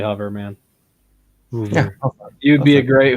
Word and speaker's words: Hoover: If that's how you say hover, how do you say Hoover? Hoover. Hoover. Is it really? Is it a big difference?